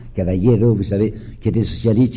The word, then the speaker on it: Caballero: On fera une réforme agraire toute petite, et un nommé Caballero, qu'il faut prononcer Caballero, vous savez, qui était socialiste et qui va devenir socialiste d'extrême gauche, aura une phrase assez pittoresque, mais que je crois juste.